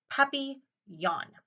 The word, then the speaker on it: Papillon: like our neighbor's dog you say it like this puppy yawn in French it means butterfly I hope mrs.